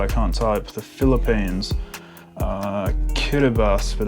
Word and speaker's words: Kiribati: The Philippines, Kiribati, but it's spelled Kiribati, Kazakhstan, Namibia.